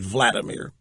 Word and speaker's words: Vladimir: wanted me to weigh in Vladimir Putin some pronounce it Vladimir is now bragging that his country and the